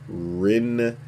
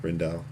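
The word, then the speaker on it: Rijndael: 5 ciphers were selected as finalists, after which Rindal, I think the J is silent, Rindal, was secured to become AES.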